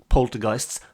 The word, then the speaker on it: poltergeist: some song lyrics about poltergeists this could come in very handy so here we go the word Poltergeist rhymes with Christ Heist underpriced unsliced or the combination words Zeitgeist and Antichrist and you never know